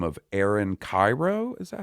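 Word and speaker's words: Kyro: Let me ask you, since you brought skating up, are you familiar with a skater by the name of Aaron Cairo?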